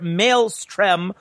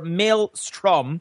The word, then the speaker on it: maelstrom: one the Merriam-Webster Dictionary defines a Maelstrom coincidentally pronounced either Maelstrom or Maelstrom according to the same source as a dangerous